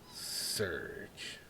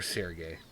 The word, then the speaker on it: Serge: Serge. Or Sergey, depending on how you want to pronounce it.